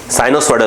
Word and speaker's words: sinusoidal: the sketch in the figure shows displacement time curve of a sinusoidal, spelling बोलना पड़ेगा, साइनोसॉइडल बोलते हैं इसको, साइनोसॉइडल, ऑफ और साइनोसॉइडल, SINUSOIDAL,